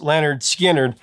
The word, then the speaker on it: Lynyrd Skynyrd: South baby we're talking Leonard skinnard with pronounced Leonard Skinner I what can you